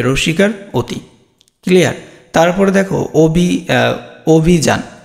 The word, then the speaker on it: অভিযান: Same, যে অ থাকে, শব্দের শুরুতে যদি অ থাকে তাহলে অটা কী হয়ে যায়, ও হয়ে যায়, আর রস্যিকার আছে রস্যিকারই হবে, এখানে আর কোনো চেঞ্জ নেই, অভিযান।